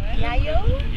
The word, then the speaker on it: EaEo: Next up, I'm speaking to company EaEo. Yeah. Is that how you say it? Exactly. It's a very complicated name to pronounce.